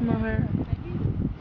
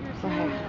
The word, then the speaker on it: Moher: How do they pronounce it? Moher. They sort of dropped the ATR. Moher.